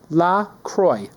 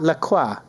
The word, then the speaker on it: La Croix: That rhymes with enjoy.